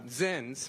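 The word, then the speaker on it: ZYN: down on sins which uh zins rhymes with sins are those packets of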